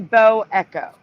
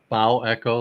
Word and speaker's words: bow echo: Wouldn't that be This- pronounced bow echo, like the bow of a ship, rather than bow? I don't know. That's how the news pronounces it. That's why I pronounce it that way.